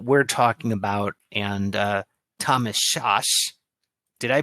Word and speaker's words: Szasz: talking about and Thomas Szasz. Did I pronounce that right? I've heard that his last name is supposed to be pronounced as you would say Saskatchewan, so it's Sas.